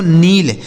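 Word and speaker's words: kneel: इसे पढ़ेंगे दोस्तों नील। के एन डबल ई एल। इसे पढ़ा जाएगा नील। यहां पर भी के के साथ एन है तो के साइलेंट है। इसे पढ़ा जाएगा नील मतलब होता है घुटने टेकना।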